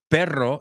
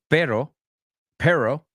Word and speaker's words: perro: say it correctly like if I know that it's perro instead of per perro well then is M